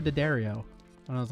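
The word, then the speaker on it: D'Addario: And she was like, it's like Hi Ho Daddario.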